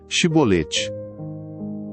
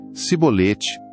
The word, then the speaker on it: Chibolete: Se respondesse que não diziam, "então diga: Chibolete." Se ele dissesse cibolete, sem conseguir pronunciar corretamente a palavra, prendiam-no e matavam-no Jordão.